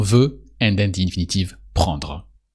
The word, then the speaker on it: prendre: So you conjugate want, on veut, and then the infinitive prendre. With a dr sound at the end of prendre.